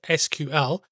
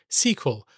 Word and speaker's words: SQL: American national standards Institute declared that the official pronunciation is SQL however many database professionals have taken to the slang squel much as with the pronunciation of GIF or gif there is no right answer and that I believe